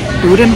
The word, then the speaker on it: boudin: I actually like the boudin bowl. Is that how you pronounce it?